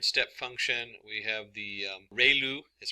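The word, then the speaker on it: ReLU: We have the ru is pronounced like ray the ray from the sun and lu like a name. So ru function.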